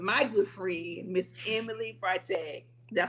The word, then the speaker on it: Freitag: And today, we have the honor of having my good friend, Miss Emily Freitag.